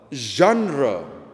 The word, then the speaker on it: genre: genre mau baca genre tapi cara baca yang kurang lebih tepat adalah zandra ini bahasa perancis asalnya apa itu zondres2d jenderal